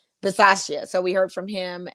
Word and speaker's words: Bisaccia: the press conferences from Mike Mayock, from Rick Biscotta, Bacciata. Biciata. One of those. I'm like, it's your team. I don't know exactly. But we need to know because he's now the head coach. Yes. Is it Bisaccia?